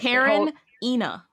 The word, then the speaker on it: Karenina: It's Karen Ina. Anna Karen Ina.